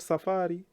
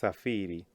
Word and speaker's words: safiri: a very common verb remember not Safari it's safiri kusafiri is the verb Safari is the journey well done so what